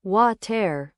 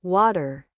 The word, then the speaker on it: water: Beginners usually say water, but Americans say water. Very soft and smooth.